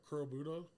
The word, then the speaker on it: Kurobuta: Kurobuta, Yeah. pork. Yeah. How do you pronounce it? I always mess it up. Kurobuta.